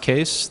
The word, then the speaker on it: Kees: I'm Kees. It's pronounced Kees. The spelling is Dutch, and it's my grandfather's fault, but you can see me on Twitter there.